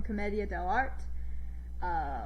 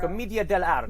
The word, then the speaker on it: Commedia dell'arte: The Harlequin is an archetype from A Mask from Commedia dell'arte, which I am mispronouncing, but it is a Renaissance form of improv. Commedia dell'arte.